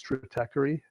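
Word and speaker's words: Stratechery: same thing but do you know the blogs trickery now say that again it's a goofy name and it's spelled Stra te CH ER y dot com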